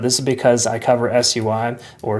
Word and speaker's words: SUI: Uh but to me, ticker symbols are acronyms, so that's how I say it. Anyways, this is part of the SUI community.